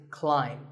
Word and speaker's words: climb: see on the screen the AI is an i sound not an a sound so the word is climb by the way what's